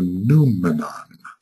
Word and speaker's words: noumenon: It is an outpicturing of what we call the noumenon. N-O-U, can I spell it? N-O-U-M-E-N-O-N, noumenon. And I think Kant dealt with the idea of the noumenon, which is the reality, which is underlying the appearance.